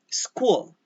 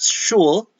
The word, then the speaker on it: school: Cat, kitten, duck, school, not shul. All right. The British SCH school, schedule, they don't pronounce it as school but shul and schedule.